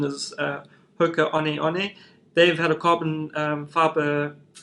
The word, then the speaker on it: Hoka One One: plate shoe um in south africa we say hoka one one but the correct pronunciation is uh hoka honey honey they've had a carbon fiber plates inside their